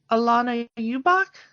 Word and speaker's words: Ubach: Moving on, we've got Alana Ubach, I believe is the way you pronounce that.